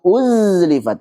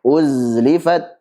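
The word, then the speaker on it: أزلفت: Wa idzal jannatu uzlifat. Ini salah. Uzlifat, uzlifat.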